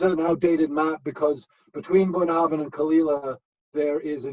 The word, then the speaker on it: Bunnahabhain: The one on the top right, Bunnahabhain. Bunnahabhain. Say that when you're drunk a few times. Bunnahabhain. Bless you. And yeah, so and actually this is an outdated map, because between Bunnahabhain and Kalila there is a new distillery called